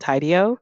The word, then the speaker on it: Tidio: plugin for Shopify, and it's called Tidio, which is spelled Tidio, and I guess like kind of like tidy, but it keeps it's a pop up.